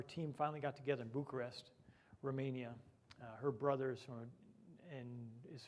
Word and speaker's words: Bucharest: in bucharest romania and i used the emphasis on the last four letters bucharest so we just were